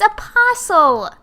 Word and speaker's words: Apostle: Here's a YouTube video that's pronouncing it. Let's see. Stop. It's Apostle.